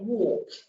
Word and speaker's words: walk: work but you say walk so the l is silent it's not there is there it's not there so you can say i walk so you can say